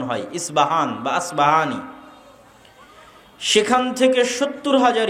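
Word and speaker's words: أصبهان: আমরা প উচ্চারণ করি। ইসপাহান। আরবিতে এটা উচ্চারণ হয় না। আরবিতে হয় আল আসবাহানি। বা উচ্চারণ হয়। ইসবাহান বাসবাহানি সেখান থেকে 70 হাজার ইহুদি দাজ্জালের সঙ্গী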